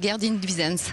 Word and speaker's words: Gerdine Duijsens: hollandaise, alors qui s'appelle Gerdine Duyssens. Voilà, vous le prononcez à peu près bien. Les Hollandais rectifieront, mais bon, pour nous, c'est Gerdine Duyssens.